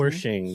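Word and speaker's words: Wersching: Yeah, Annie, how did you pronounce her last name? Wershing, yeah.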